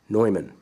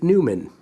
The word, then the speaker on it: Neumann: for now it's noise Numan okay often I will hear people say Neumann and my hope is that you're not the jerk that pronounce that corrects their pronunciation but I want you